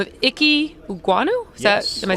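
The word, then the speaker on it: Ekwonu: than the jets guy by the name of icky guano is that am i saying it correctly all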